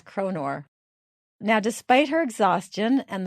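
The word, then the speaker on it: kronor: one of those and I looked up the plural and it's konor so I'm not mispronouncing it it really is konor now despite her exhaustion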